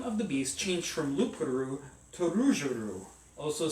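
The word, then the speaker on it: loup-garou: the Beast changed from lupuru also spelled Rouge garu rugru and it sounds so cool when you roll your R which I can't do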